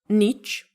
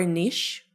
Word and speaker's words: niche: Is it niche or niche? Actually, both. You can pronounce it like niche and niche. I love niche more.